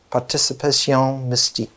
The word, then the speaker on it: participation mystique: The great French anthropologist Lucien Levy-Bruhl used a term, my French pronunciation is always off, so I pronounce it in an English way, participation mystical. Participation mystique.